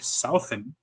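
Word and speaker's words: Southon: It was directed by Mike Southen. I believe that's how you pronounce his name. It's S South and then O-N.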